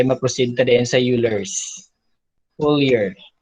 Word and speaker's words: Euler: Full year. Hambal sang sa YouTube. Full year. But Euler. Euler man siya pang pronounce.